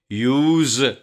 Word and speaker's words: use: یوز کے pronunciation تلفظ کے بارے میں یاد رکھیں کہ اگر یہ بطور ورب استعمال ہو تو اسے یوز پڑھتے ہیں یعنی زیڈ کی ساؤنڈ آتی ہے، اور بطور ناؤن استعمال